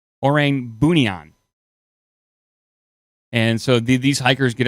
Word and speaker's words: Orang Bunian: So it is pronounced the Orang Bunian. Orang Bunian.